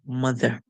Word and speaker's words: mother: and E mother mother however in English you will not hear the e at the end being sound out like roll itself like that to say mother most of the time especially in British English it would make a sound so you'll hear mother mother so it's like it's